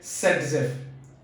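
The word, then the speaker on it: Zaitsev: सबसे पहले इस चैप्टर के अंदर हम बात करें तो रशियन केमिस्ट था दैट इज अलेक्जेंडर ज़ेटसेव, बट उसको प्रोनाउंस करना है सेटजेफ।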